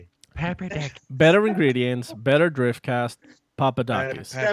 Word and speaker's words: Papadakis: So I'm stepping into the existing Corolla that Papadakis and Osbo campaigned for the last 2 years.